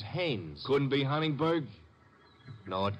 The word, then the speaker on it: Haines: war fishing so i what did you say his name is haynes h-a-i-n-e-s well as your fellow named heinz used to fish no no not heinz haynes couldn't be honest no